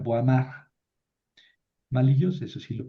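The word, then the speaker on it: Boismard: Estos franceses, escriben Benoit y pronuncian Benois. escriben boismart y pronuncian boamar.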